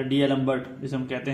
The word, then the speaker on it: D'Alembert: हम इंग्लिश में बोल सकते हैं डीएलम्बर्ट, तो ये यहाँ साइलेंट होगा, लैम्बर्ट हो जाएगा, ठीक है, लैम्बर्ट रेशो